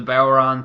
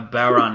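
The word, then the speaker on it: bodhrán: He gave the 10 beats of the Boweron to Ambrose, Irish Curse to Rollins, and then a Brogue Kick to Roman.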